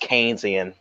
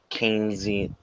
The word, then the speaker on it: Keynesian: the live chat said you're pronouncing it it's pronounced Keynesian not kingsy yeah where were you were saying before Museum